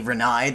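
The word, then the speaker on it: Renai: want to point out there's no way you pronounce your name Renee because it's actually renei the way it's spelled in the credits oh my God thank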